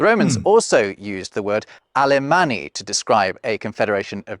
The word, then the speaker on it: Alemán: The Romans also used the word Alemanni to describe a confederation of Germany. That's how you say it in Spanish. Yeah. Alemán.